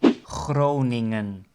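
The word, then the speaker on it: Groningen: the letter G and the second G is a combination of the NG and the combination of NG in Dutch is always pronounced as hmm right so that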